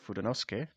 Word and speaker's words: Fudenosuke: Um, it's called the Tombow Fudenosuke, or if you've played Onimusha, you know it's pronounced Fudenosuke, much like Samanosuke.